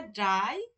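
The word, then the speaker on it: drei: সোয়াই কি বলে সোয়াই থ্রি টাকে বলা হয় ড্রাই ফোর টাকে বলা হয় ফিয়ার ফিয়ার এই যে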